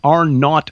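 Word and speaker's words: R0: Uh, the seasonal flu, what what they call R not value, right? That's R with a zero, but R not is how it's pronounced.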